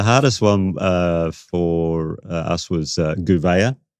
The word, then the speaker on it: Gouveia: The hardest one for us was Gouveia. But the way it's sort of written is Gouvier. And we heard a few Gouviers in the year a little bit, but we got it right.